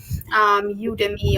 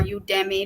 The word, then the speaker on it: Udemy: discussions things like Coursera udemy are you demi depending on how you pronounce it EDX Udacity all